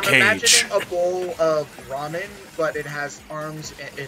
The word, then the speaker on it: ramen: was doing Iruka's voice would always pronounce ramen as Raymond.